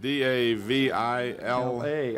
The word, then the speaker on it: Davila: Well, it's spelled D-A-V-I-L-A.